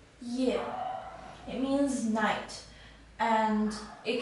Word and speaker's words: 夜: this character it is pronounced as year yeah it means night and